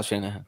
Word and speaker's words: Shanahan: Kyle Shanahan, yeah. Last name rhymes with banana hands.